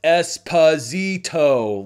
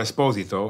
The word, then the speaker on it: Esposito: More than one comment that literally said his name is pronounced Esposito, like phonetically. Here's the thing though. It's not. Giancarlo Esposito, Esposito, Esposito, Esposito.